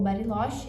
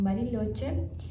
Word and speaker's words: Bariloche: Então, outras cidades muito muito conhecidas da Argentina para ir também é barilote ou bariloche, né? Muita gente fala que bariloche é mais lá chamam barilhote.